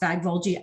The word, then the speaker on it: Vágvölgyi: So I'm told that it's pronounced Vágvölgyi. I don't think that that's how they say it in Hungary, but you know.